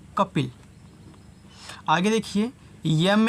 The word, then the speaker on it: कपिल: के से होता है आपका क ए साइलेंट पी से प आई से छोटी ई की मात्रा एल से ल कपिल आगे देखिए एम ए